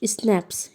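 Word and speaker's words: Schnapps: स्नैप्स pronounced स्नैप्स यानी कि pronounce नहीं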